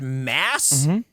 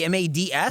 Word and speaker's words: Mads: his name is pronounced mass m is is it not like m-a-d-s that's how it's spelled that's not how it's pronounced well then his name